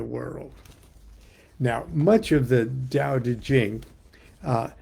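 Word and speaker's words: Tao: Dao pronounced Dao is a word which defies literal translation into English.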